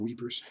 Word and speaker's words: Ypres: lengthy period of time, I'm trying to use a French pronunciation. This is French-speaking part of Belgium. A lot of times the British just call it whippers or weepers.